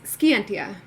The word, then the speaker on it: Scientia: In Japanese, it's Scientia. Ah, okay, no silent C.